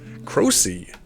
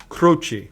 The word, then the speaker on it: Croci: Croci. Yes. Is that how you pronounce it? Yes, we've Americanized it, Michael. It should be Croci. Croci.